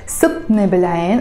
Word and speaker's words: صابتني بالعين: I can say subtne, subtne, subtne, pronounced very fast as subtne bilayn, almost like the T is disappearing.